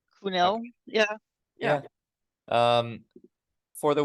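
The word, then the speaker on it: Kuhnel: I have no idea how to say his name, but his name is Joel Cuniel. Kunel.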